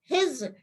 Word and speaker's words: Heitz: तो हेट्रोक्रोमेटिन शब्द का प्रयोग सर्वप्रथम हिज HEITZ, टी साइलेंट है, हिज ने सन 1928 में किया।